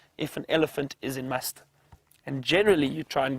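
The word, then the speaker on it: musth: a stage known as must which is spelled m s t h and it's apparently an Indian word must is the the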